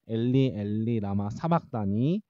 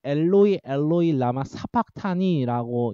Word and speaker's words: 엘리 엘리 라마 사박다니: 엘리 엘리 라마 사박다니. 헬라어로는 엘로이 엘로이 라마 사박타니라고 이제 읽는데 우리나라 개역개정에서는 엘리 엘리 라마 사박다니라고 읽어요.